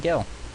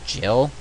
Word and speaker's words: Gil: start out with 3,000 Gil alright I've heard it pronounced Jill but I mean Jill was a character from Resident Evil not a currency kill is what fish